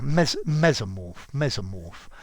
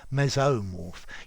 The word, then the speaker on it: mesomorph: But yeah, mesomorph. Yeah, you need to de-stress the first one. Mesomorph. You could do it as well. I think mesomorph, very definitely. Mesomorph.